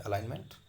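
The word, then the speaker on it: alignment: Super most ही यहाँ पर जी silent है, अलाइनमेंट।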